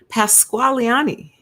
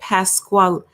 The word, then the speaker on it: Pasqualini: In an interview with WSA9, Pasqualiani, that's not how you say it, Pasqualini, said Samsel had been viciously and savagely beaten by a corrections officer who zip-tied his hands first.